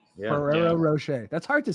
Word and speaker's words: Ferrero Rocher: Ferrero Rocher.